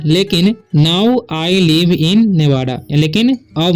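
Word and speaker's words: Nevada: I live, इसे पढ़ते हैं हम लोग लिव इन नेवादा, ठीक है, नेवाडा बोलेंगे, नेवादा भी हो सकता है, ठीक है।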